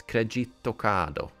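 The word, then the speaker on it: クレジットカード: So instead of credit card, in Japanese it's kredito kado, which is using all the present kanas to make up a word pretty similar to the original one.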